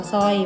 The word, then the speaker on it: สร้อย: เศร้า กับ ผม ว่า สร้อย ไม่ ต้อง ออก เสียง ร เรือ นะ คะ พอ ดี